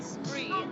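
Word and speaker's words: spraoi: And so you say spree, but that's spelled S-P-R-A-A-O-I. A-O-I.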